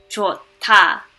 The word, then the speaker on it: 좋다: For this word with the H at the bottom and a D right next to it, it would be pronounced 좋다 with a T.